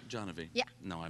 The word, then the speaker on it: Janvi: Johnavy. Janvi. Yeah. No, I mispronounced it.